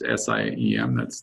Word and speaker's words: SIEM: The SIEM, that's SIEM, there's a number of ways of pronouncing it, but I'll pronounce it SIEM for now.